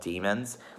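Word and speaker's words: daemons: a bit weird but it's pronounced like the english word demon and they're like these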